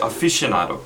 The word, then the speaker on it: aficionado: So 이것도 Aficionado하고 Connoisseur 아주 비슷한데 Aficionado 찍을게요. Aficionado도 써드릴게요. 여기 A 하나 빠졌어요. Aficionado라는 말도 있는데요. 근데 이거 빨리 말할 때 Aficionado 이렇게 발음을 해요. 이렇게 보면은 Aficionado이지만 발음할 때 Aficionado 그냥 그렇게 얘기하시면 돼요.